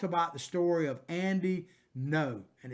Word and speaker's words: Ngo: And you might remember that we talked about the story of Andy No, and it's spelled Ngo, but it's pronounced No.